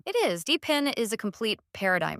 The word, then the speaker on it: DePIN: stands for decentralized physical infrastructure networks oh it's pronounced dpin dpin the guy so dpin is all about